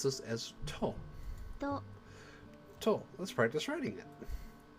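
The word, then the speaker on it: と: You pronounce this as to.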